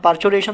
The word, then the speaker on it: parturition: अब ये जो पूरा कंप्लीट पार्चुरेशन प्रोसेस है दोस्तों, यहाँ पे स्पेलिंग थोड़ा सा रॉन्ग है, this is पार्चुर नॉट पार्चुरेशन, this is actually पार्चुरेशन।